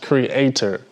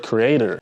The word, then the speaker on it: Kreader: This is pronounced Creator. A lot of y'all pronounce it as Creator. It is not Creator, right?